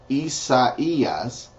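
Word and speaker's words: Isaías: believe it or not in Spanish Isaiah is Isaias Jeremiah is heras Ezekiel is Ezekiel Daniel is Daniel it's spelled the same way Daniel Hosea is OAS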